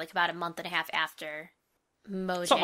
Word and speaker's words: Mojang: It's like a J and a Y combined. Mojang.